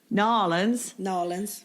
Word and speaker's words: New Orleans: So that kind of brings us to zones, and how different your zone is from New Orleans, which, by the way, they pronounce it Norlands. Nolans.